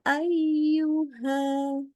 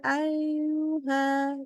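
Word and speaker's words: أيها: makhrjnya maka dia salah contoh harusnya bacanya begini Ingat harus tekan dulu ya ayyuha ya ini kalau dibaca dengan tidak menaikkan benar-benar dia akan terbaca seperti begini ya ya Ayuha jadi malas lidahnya istilahnya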